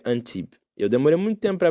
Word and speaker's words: Antibes: Se escreve Antibes. Antibes. Um brasileiro pronunciaria. Português também. Mas se pronuncia Antibes.